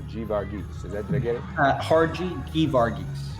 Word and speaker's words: Geevarghese: Geevarghese. Geevarghese, both hard G's.